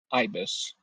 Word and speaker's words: ibis: Ibis.